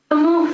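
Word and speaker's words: Samuh: Samu Sabha. Samu, it's a silent H in it.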